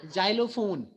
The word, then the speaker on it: xylophone: In words like xylophone, X is pronounced as za.